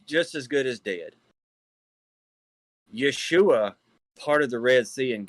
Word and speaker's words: Yeshua: And that's not pronounced as Joshua or Joshua neither. That is Yeshua of Yahuwah.